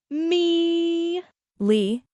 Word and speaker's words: meliorate: The pronunciation of melarate is me leate.